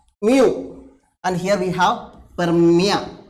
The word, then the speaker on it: mu: can we remember so this is a Greek letter and pronounce it as Mu and here we have